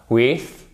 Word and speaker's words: with: c'est un soft pass juste la langue entre les dents du bas et les dents du haut celui-ci vous faites riper la langue contre les dents du haut au moment où elle sort et la langue elle sort ce qui produit un son plus fort with with with cl